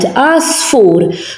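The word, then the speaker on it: għasfur: Asfur. So this is silent. I don't know because it's not showing that good. So The ayn here is silent because it is at the beginning of the letter.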